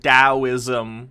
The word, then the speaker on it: Taoism: So while you'll sit and read about Taoism or Stoicism like a dork, I'm pretty sure it's pronounced Taoism, which you may have learned if you'd actually read a book, Tate.